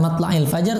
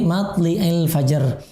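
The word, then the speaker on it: مطلع الفجر: Wa qara'a al-Kisai, dan Imam Al-Kisai membacanya matli'il fajar bikasri lam. Matli bukan matla'il fajar, tapi matli'il fajar.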